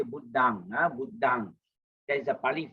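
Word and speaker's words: Buddhaṃ: And then M and N is always pronounced as NG in English, as in sing, S-I-N-G, sing. So if we say Buddhang, not Buddham, okay. Our purpose, we say Buddhang, Buddhang.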